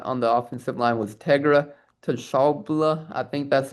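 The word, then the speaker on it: Tegra Tshabola: that we got on the offensive line was Tegra Toshabla. I think that's how you pronounce it. He's from Shabola. Tabola. Yeah. No, Tegra Shabola. Tegra Shabola. Well, that's how you pronounce it.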